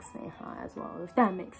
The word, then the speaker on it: Sneha: For example, my name is Sneha, but if you spell it out it's like Chi-ne-ha. Okay, but you won't say Chi-ne-ha, like you say Sneha, you know.